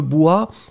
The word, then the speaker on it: bois: Remember that the verb boire, when you conjugate it in the first person, je bois, you will write it B-O-I-S. You don't pronounce the final S, but still you should write it like that.